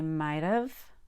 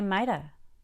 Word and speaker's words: might have: it you can say might of with a light d or you can say mida with no v at all i might have